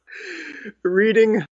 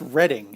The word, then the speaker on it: Reading: Reading. I believe it's pronounced Reading, actually.